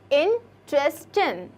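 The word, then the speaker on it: interesting: इंटरेस्टिंग, नो, इसमें इंटरेस्टिंग, ये ग भी नहीं सुनाई देता और ये वाला ट भी नहीं सुनाई देता, ठीक है।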